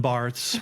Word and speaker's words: Barthes: His name is Roland Barthes. We call him Roland Barthes. I was going to say, I don't know how to spell that.